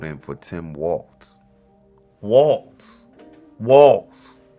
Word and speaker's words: Walz: Now it's like, how do you say it? Is it whales? Walls. Walls. Walls.